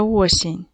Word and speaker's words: осінь: І давайте скажемо, яка ж наша осінь. Вона щедра, вона золота, вона дощова. Давайте зробимо звуковий аналіз слова осінь. Спочатку поділимо на склади. Осінь. Поставимо наголос. Осінь падає на перший склад.